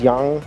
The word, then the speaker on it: Giang: I mean, it's spelt in English as Giang Cafe, but I think when I was asking for directions to it, it's pronounced as Yang. Like, there's a Z in there when they say it.